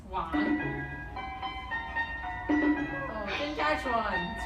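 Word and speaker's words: 网: And the Chinese word for net is pronounced wang. Wang. Yes, wang.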